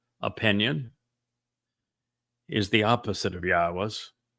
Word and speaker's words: Yahweh: But since your opinion is the opposite of Yahweh's, it's obvious that you speak for the very religion God despises. Ask yourself, why? Was I able to ascertain that Yahweh is the proper pronunciation of God's name and prove it?